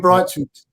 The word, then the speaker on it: Breithaupt: Midfield partnership of Loser and pronunciation, Charlie, I'll leave it to you. Breithaupt, Tim Breithaupt.